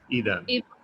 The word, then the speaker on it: Eden: It's So with a soft D, Eden.